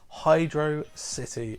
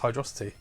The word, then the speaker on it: Hydro City: And that's Hydro City from Sonic the Hedgehog 3. And I know a lot of people will say it's pronounced Hydrocity.